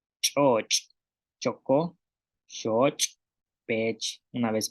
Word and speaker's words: ch'óoch': Tenemos como shoch, búho, chocó, caliente, y choch, salado. Y en este caso de salado, podemos observar que la cha está al principio y al final de la palabra.